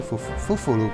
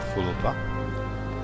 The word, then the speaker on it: Fufulupa: Fufulupa, not Fulupa. Like, they have always doubled their some syllables in their name.